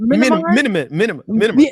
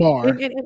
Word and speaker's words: Myanmar: He said minimum. He didn't even get it right, Myanmar. and he's strong and wrong. He said Probably enema.